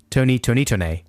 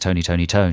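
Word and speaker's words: Tony! Toni! Toné!: this band's name adam well we used to enjoy saying tony tonito but i think i think it's just tony tony tony it's just called thinking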